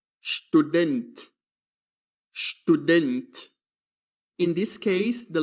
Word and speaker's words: Student: In German, when the letter S begins a word and is followed by a consonant, it is read as sh. Repeat the word student.